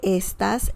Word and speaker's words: está: There's a subtle difference of pronunciation with esta and está.